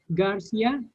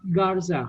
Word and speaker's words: Garza: Sorry, what is your last name again? Garcia? Actually, it's Garza.